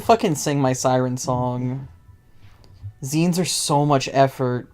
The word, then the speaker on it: zine: Yeah, it's pronounced zine because it's like magazine.